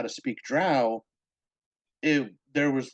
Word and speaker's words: drow: I'm so sorry it's it's Hooked on Phonics b-r-o-w brow d-r-o-w drow I'm so sorry I